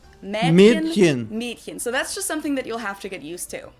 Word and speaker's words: Mädchen: It's spelled with an umlaut A, but most people pronounce it more as if it was spelled with an E. So it's spelled Mädchen, but we usually pronounce it Mädchen. Mädchen.